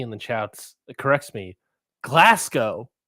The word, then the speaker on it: Glasgow: the chats corrects me glasow not the W the W the w go W is silent um oh are you